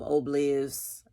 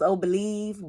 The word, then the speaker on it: Ohbliv: I heard somebody say it like that on his IG. He posted it. So I'm going to go with that. Even though I thought it was Ohbliv, but I'd be pronouncing stuff a certain kind of way.